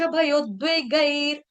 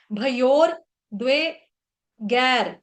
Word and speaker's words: भयोद्वेगैर: भयोर्द्वेगैर ऐसा उच्चारण गलत है, और यहाँ पर भयोर नहीं है, भयोद्वेगैर, और द्वई बोल देते हैं, द्वई, द्वई नहीं है, द्वे है, द्वे द्वे।